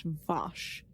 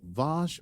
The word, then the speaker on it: Vash: yeah is vash's name vosh or is that Picard's accent no I think it is is her name I think it's Bosh like bath the prolonged ah oh law I didn't